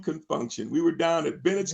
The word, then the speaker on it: Con Funk Shun: and be careful because this has a funny spelling and they spelled it out they said we spell it like this we call it confunction c-o-n-f-u-n-k-s-h-u-n and they begin to